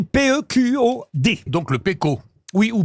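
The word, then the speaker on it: Pequod: Oui, ou Pécode, ça dépend Non, non, comment on on dit le prononce. Pécor. C'est 19e. Je pense d'ailleurs qu'on prononce le D quand on le prononce dans sa langue originale.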